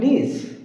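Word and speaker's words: niece: আর নিস, এটির উচ্চারণটা নিস, নিস, এটি হচ্ছে ভাগ্নি অথবা ভাইঝি, অর্থাৎ বোনের মেয়ে অথবা ভাইয়ের মেয়ে।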